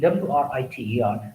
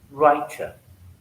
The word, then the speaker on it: writer: Similarly, WRITER, British speaker will pronounce this word as writer, American writer.